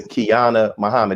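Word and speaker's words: Qiana Muhammad: and also a member of Kingdom Come, Sister Kiana Muhammad. I pronounce that right?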